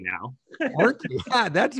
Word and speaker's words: Orkney: And I know how to pronounce it correctly now. Orkney, yeah, that's right.